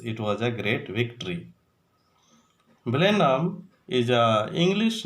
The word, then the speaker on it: Blenheim: Blenheim is a name of Germanic village and its correct pronunciation is Blenheim, but some people pronounce it as a Belheim.